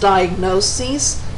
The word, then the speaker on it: diagnoses: In the plural, the IS at the end is changed to ES, and they're pronounced diagnoses and prognoses.